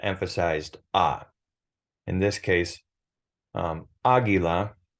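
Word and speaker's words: águila: ah in this case Aguila has an emphasis in the pronunciation over the ah Aguila it doesn't mean that it has to have an accent mark agua it has the emphasis in the pronunciation on the second to last syllable also known as the first syllable in this case um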